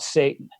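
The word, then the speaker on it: seitan: they can't say taht they should just call it satan you know that's kind of how it really sounds so you take a slab of satan first thing in the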